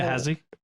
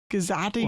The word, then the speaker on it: Gehazi: But he also mispronounced the servant's name in a horrible. Gehazi? Yeah, he Gazati or something. Yeah, and he added a consonant.